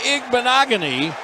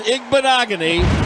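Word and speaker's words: Igbinoghene: goal and it was the newly arrived Noah igbanogony that's that is the way it's pronounced just throw a bunch of letters and consonants in there it's igbanogony hilarious how much would you guys pay me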